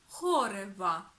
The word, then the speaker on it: χόρευα: جوڑتے ہیں اور یہ 'χόρευα' ہوجائے گا اور دوسری بات ہم تلفظ کو تیسرے حرف میں آخر سے رکھتے ہیں یہ ہے کہ 'Χορεύω' بن جائے گا 'χόρευα' جب فعل کے صرف